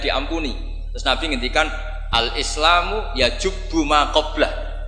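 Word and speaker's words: يجبّ: Terus Nabi ngendikan al-Islamu yajubu ma qablah. Itu bacanya bukan yajibu tapi apa? Yajubu ayaktau.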